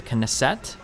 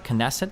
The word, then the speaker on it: Knesset: Prime Minister Bean's response to Saddat's initiative, though not what it's the Knesset, the Kesset.